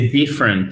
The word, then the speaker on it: different: Et c'est different et pas différente, ok? Different. Donc, il faut bien mettre l'accent tonique sur la première syllabe, ok, guys?